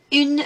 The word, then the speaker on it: une: Can you hear the difference between un and une? It's much longer sound, isn't it, for feminine? Une souris.